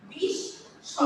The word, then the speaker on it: বিস্ময়: দেখো এই যে দন্তা শটাকে কি হচ্ছে দুইবার উচ্চারিত হচ্ছে বিস্ময়।